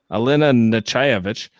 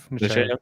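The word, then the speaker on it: Nechayev: Natalia Nogulich plays Admiral Alina Nechaevich. No, how do you say her name? Nechaev? Nechaev.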